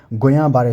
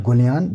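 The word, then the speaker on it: Guillain-Barré: a case of acute गुया बारे syndrome this is नॉट गुलिन this is अ गुया बारे सिंड्रोम ठीक है double L इज the silent one ठीक है इंजेक्शन अ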